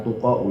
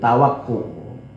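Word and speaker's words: توقع: Kaitu tawakku ya, bacanya bukan tuqa'u, itu tawakku. Apa tawakku itu?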